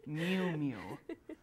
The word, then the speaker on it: Miu Miu: I had to look up that pronunciation 10 times. Miu Miu.